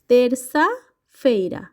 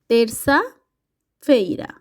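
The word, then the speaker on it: terça-feira: সেগুন্দা ফেরা মঙ্গলবারকে আমরা বলে থাকি তেরসা ফেরা তেরসা ফেইরা এখানে একটি জিনিস লক্ষ্য করবেন সি এর নিচে যে ছোট্ট অংশে অংশ রয়েছে সেইটার কারণে এই উচ্চারণটা সিটা দন্তার দন্তাস এর মত তেরসা ফেইরা বুধবারকে আমরা পর্তুগিজ ভাষায় বলে থাকি কোয়ার্তা ফেরা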